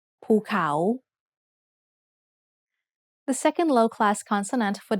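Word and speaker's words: ภูเขา: ะ เ อ า The first syllable is mid-tone and the second syllable has a rising tone ภ ู เ ข า Let's write it together.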